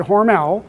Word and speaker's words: Hormel: Don't call it Hormel. They will severely chastise you in Austin, Minnesota if you pronounce it Hormel. It is Hormel, which is why every